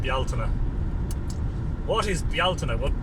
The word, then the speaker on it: Bealtaine: that may be because you've heard the English pronunciation - beltane for a lot of people who call it del tain but in this part of the world it's pronounced the alterna what is the alternate what Deltona is ancient